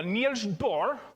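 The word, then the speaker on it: Niels Bohr: This is a term from Neil's Boore, which I suppose if we're going to pronounce it the right way, we go Neil Boore. That's my best Swedish chef version of it.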